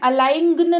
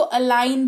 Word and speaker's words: align: फिर देखो इसको ALIGN, अलाइंगन नहीं पढ़ते हैं, इसको अलाइन पढ़ते हैं।